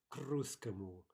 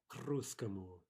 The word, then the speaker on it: к русскому: We can imagine writing this phrase k русскому as a single word. That's really the way we're going to be pronouncing it. And we would say к русскому, к русскому.